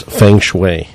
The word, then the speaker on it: Feng Shui: In terms of the words Feng Shui, did I pronounce it right in the first place?